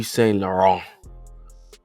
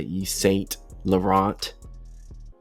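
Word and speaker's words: Saint Laurent: It's E St. Lauron. E St. Lauron. All right. And again, you got Young Thug who popularizes this U. And again, you hear a lot of people trying to say East St. Laurent.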